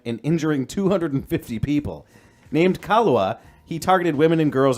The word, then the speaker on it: Kahlua: That's He like mispronounced. It's Kahlua. that's Kahlua.